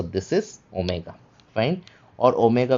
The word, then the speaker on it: ओमेगा: Fine और ओमेगा का उच्चारण भी ओ का होता है। ठीक है? ओमिक्रॉन जैसे ही ओमेगा का उच्चारण होगा ओ का। जैसे कि गोल्ड। ठीक है? या फिर ओल्ड।